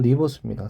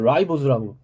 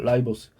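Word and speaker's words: ribose: 얘는 리보스입니다. 사실 리보스란 발음도 여러분 대학까지 리보스라고 발음하시는 교수님 하나도 없어요. 라이보스라고 발음해요. 라이보스.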